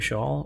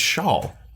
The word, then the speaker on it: Scholl: And it's Shawl. Shaw. Yeah. Shaw. Well, how do you pronounce it? I pronounce it Shaw.